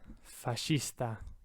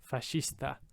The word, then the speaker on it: fascista: it has that either third word fascista right like fascist fascista fourth word peshe but